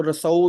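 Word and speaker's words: Rousseau: Fifth वाला बहुत ज्यादा इंपॉर्टेंट है, रसो। इसको रसो भी बोलते हैं, सबका अलग अलग प्रोनाउंसिएशन है।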